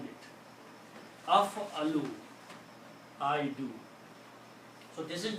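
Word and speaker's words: أفعل: So I can pronounce now this word. This will be af-a-lu.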